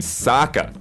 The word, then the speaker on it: Sokka: including sokka's boomerang however the character in the show pronounces his name saka ah which is why